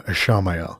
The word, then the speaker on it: Ishamael: I am going to call him Ishamael, since that's his name in the books, and I like putting the proper emphasis on the extra syllable.